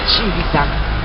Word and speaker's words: Civita Castellana: Ça s'écrit Civita, mais c'est Civita.